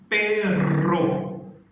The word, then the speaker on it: perro: A gente tem uma palavra que é P de pato, E-R-O. E eu falo pero, ok? Eu cheguei em casa, mas não tinha ninguém. Cheguei a casa, pero não tinha nadie. A palavra com P de pato, E-R-R-O, eu já falo perro. Aí dá aquela tremida que a gente já se acostumou quando ela está no início. Que aí essa já seria o cachorro, né?